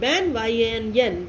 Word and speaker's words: banyan: बनियान का मतलब पहनने वाला कपड़ा. तो बनियान कोई नहीं बोलेगा. क्या बोलेंगे आप लोग? बैनियन. Okay. This pronunciation of this word is बैनियन. BAN ban, YAN banyan.